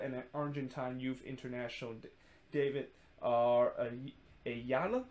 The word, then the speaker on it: Ayala: Argentine youth international David Ayala. I think that's how you pronounce it. And I think it's actually pronounced David Ayala because, you know, he is Argentine.